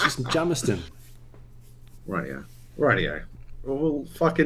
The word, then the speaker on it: Jamisontown: It's Jamiston. Is it pronounced Jamison Town? Jamison Town. Jamiston. Listen, it's not town. Jamiston. It says town on the fucking end.